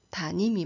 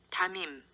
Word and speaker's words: 담임: 나와있더라구요 한번 들어 보시겠어요 담임 담 1 네 맞습니다 다음인 선생님 이렇게 발음 하셔야 맞는 거죠 4 우리가 발음하기 쉬운 틀리기 쉬운 단어인데요 단 이미 아니고 담임 선생이 여러분이 교무실에 들어오실 때